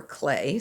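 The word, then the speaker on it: Klee: going to show you his name is paul clee or clay some people say his name that way and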